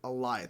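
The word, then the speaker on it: Alioth: with the help with sylvie they both enchanted aliyah that's how you pronounce it eliath that giant storm creature that was so cool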